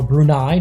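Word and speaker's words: Brunei: and now Afghanistan against brune or brunai depending on how you want to pronounce it but here on marble F we're going to pronounce it brune they're in the yellow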